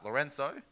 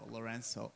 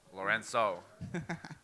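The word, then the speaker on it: Lourenço: silvano Loreno from uh Lorenzo from Portugal yeah in uh in Portugal we pronounced the C's depending if it has a hen on the bottom as an S so Loreno Loreno so a nice hit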